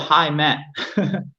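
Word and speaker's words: Heimat: wait what was it it was called high matt which is pretty funny yeah like but it's spelled h-e-i-m-a-t but you know for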